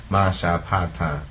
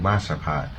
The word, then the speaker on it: Mashapat: Masha Pata, thus saying Mashapat. On endings, we don't say Mashapata because endings are closed.